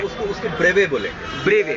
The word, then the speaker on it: brevet: ब्रेवे। BREVET। Okay. Pronounced ब्रेवे।